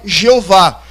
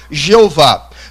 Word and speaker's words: Jeová: A primeira teoria da transliteração do tetagrama é Jeová. é a pronúncia que nós conhecemos latinizada como Jeová.